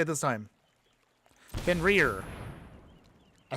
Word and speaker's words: Fenrir: Fenrir.